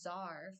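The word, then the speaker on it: czar: 1948 and he was zar 1908 to 18 to 1918 of Bulgaria I'll show you I already did but there I believe I know Zar it's spelled CZ a r so Zar CZ a r is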